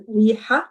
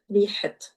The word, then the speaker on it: ريحة: For example, in riha, that's an a, but when we're annexing it to another noun, that's going to be it, rihat, ara awiyi.